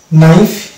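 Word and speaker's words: knife: আমরা সাইলেন্ট দেখতে পাবো, যদি শব্দের শুরুতে কে এবং এন পাশাপাশি থাকে, সেই ক্ষেত্রে কিন্তু আমরা কে সাইলেন্ট দেখতে পাবো।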